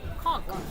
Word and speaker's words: conch: type of seafood oh here we go pronounce conch pronounce kong okay so it's so it's seafood okay the